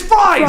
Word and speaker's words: Fries: Victor Freeze, I thought. Right. But it's not spelled freeze. I don't Yeah. care what you say. Yeah. No, Yes. it's F-R-I. It's spelled like fries. It's fries.